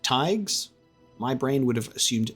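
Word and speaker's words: thaig: gonna make a note of that that is pronounced tags my brain would have assumed fagues but it's a it's a th not a the uh thigs in order to do something with them then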